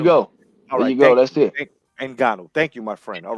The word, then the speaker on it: Ngannou: Could you help me pronounce his last name? Ngannou. All right. And Egna, fuck.